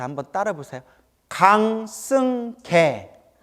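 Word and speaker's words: 강승개: 강승계. 개자가 개울할 때 개자예요. 강아지 할 때 개자.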